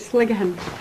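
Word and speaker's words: Sligachan: Is this the Sligachen Hotel? Sligachen Hotel. We pronounce it Sligachen.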